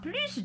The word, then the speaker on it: plus: Vous remarquez que le S de plus se prononce.